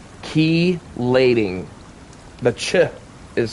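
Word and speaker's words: chelating: up and it's pronounced keyating. The ch is silent. It forms a c sound like key. Like put my key in the door.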